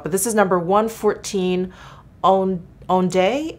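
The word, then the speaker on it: Ondée: But this is number 114 Ondee, O-N-D-E-E, accent on the first E.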